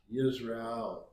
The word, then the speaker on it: Israel: And if you look at Israel, it's pronounced Yisrael.